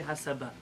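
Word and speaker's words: הסבה: Einat tzricha, the way it's spelled here is hasiba, but in Hebrew they say hasaba.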